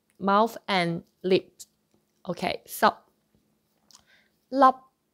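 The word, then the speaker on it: 粒: And for P sound, then you close your mouth and your lips together.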